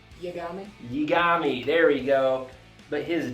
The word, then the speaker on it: Yagami: The main character, Light, Yigasami, how do you say his last name? Yagami, there we go.